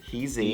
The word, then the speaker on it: D-heezy: Okay, I am reading about Deheezy. Oh God. Is that okay. how is the correct pronunciation? Deheezy. Deheezy.